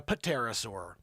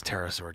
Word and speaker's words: pterosaur: that a pterosaur or is that a paterasaur no i know it's pterosaur joanne uh superbly preserved